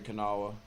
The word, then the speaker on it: Kanawha: at you at least I know how to pronounce her name poor thing I'm sorry Kanawha you just don't even have anything to say